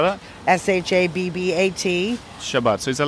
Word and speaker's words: Shabbat: S-H-A-B-B-A-T. Shabbat. So is that like Sabbath? Yeah, Sabbath, exactly. Where you come from is what you call it. Good Shabbos or good Shabbat.